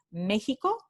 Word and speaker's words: México: Y por último, el ejemplo de este fonema cuando se realiza usando la letra del alfabeto convencional X, como en la palabra México. Entonces tenemos aquí transcripción fonémica